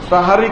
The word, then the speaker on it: সাহারি: একটি বেদাত করে ফেললেন শব্দটা সাহারি সেহেরি নয় সেহেরি বলবেন না আপনারা কেউ শব্দটা হলো সাহারি এটা উচ্চারণ করার চেষ্টা করবেন গোটা দেশে উল্টানো আছে